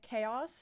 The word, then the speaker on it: Caos: Um, and on the left here, this is uh chaos. It's spelled caos.